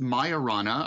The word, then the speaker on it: Majorana: Well, it's pronounced Majorana or Majorana 1, and it's a big deal because it really is the next big thing in computing.